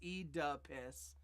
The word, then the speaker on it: Oedipus: No, V8 says it's pronounced E-duh-piss.